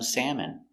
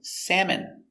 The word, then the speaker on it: salmon: Pronunciation salmon. A salmon is a fish and I like to eat salmon for lunch. Salmon s a sad mam. Sam. E. Salmon. Salmon. M. Salmon.